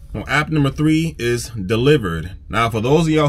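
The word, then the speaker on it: Dlivrd: here and there well app number three is delivered now for those of y'all who keep asking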